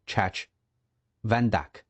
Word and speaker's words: Chach Vandak: 石盘陀是伊朗那边的方言，念作 Chach Vandak，意思是神的仆人，名字非常巧合。